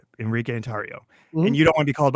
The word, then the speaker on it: Enrique Tarrio: So on my birth certificate, it is Enrique Tarrio. It's Enrique Tarrio.